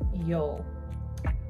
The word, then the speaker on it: yeule: my best here and their name is Yol I believe this pronounced like that but I'm talking about